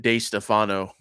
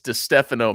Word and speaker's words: DeStefano: one that gets butchered everyone calls him jp day stefano it's like dude it's destefano man but oh hey this